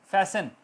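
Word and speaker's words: fasten: लिसन, फैसन बांधना, लिसन सुनना, फैसन बांधना या जल्दी, फास्ट से फैसन, फैसन your C belts, T silent.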